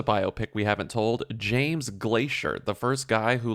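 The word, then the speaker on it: Glaisher: obsessed with weather and his last name was Glacier but it's spelled g l a i s h e r okay it's like phonetically Glacier he invented the dupoint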